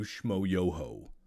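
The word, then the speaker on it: Schmoyoho: incredible thank you to shmoyoho accent on the yo where's the whole i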